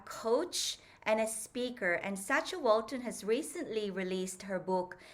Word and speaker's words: Sacha Walton: So, Sacha, I pronounced your name as Sacha Walton.